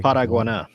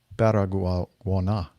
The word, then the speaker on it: Paraguaná: The Venezuelan Air Force detected an aircraft without a flight plan operating at a low altitude near, Rick, can you pronounce P-A-R-A? Paraguaná. Paraguaná.